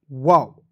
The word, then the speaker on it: wow: अब देखिए आपको याद रखना दोस्तों, यहाँ पे स्पेलिंग वर्ड्स को याद रखना होता है कि दो कंसोनेंट के बीच में ओ आएगा तो इसका उच्चारण औ के रूप में करते हैं, ओ के रूप में